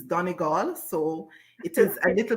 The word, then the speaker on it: Donegal: so i'm from donegal the pronunciation may vary but as a child i was taught that it is donegal so it is a